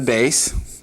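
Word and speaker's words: ב: different pronunciation will be this one the base. And if it has the dogish, it has a definite b sound. If the base does not have a dogish, then it's going to have a v.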